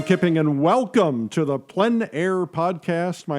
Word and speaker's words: plein air: Called PleinAir, the French coined the term, which means open air or outdoors. The French pronounce it plein air. Others say PleinAir.